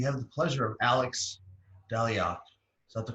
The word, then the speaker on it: Dalyac: friends and we have the pleasure of alex daliot is that the correct pronunciation alex it is hello so much for